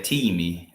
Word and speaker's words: time: not very good, but they still say teamy and that's spelled t i m e, right? So, that that probably that almost definitely comes from the English word team, but it's spelled time in English.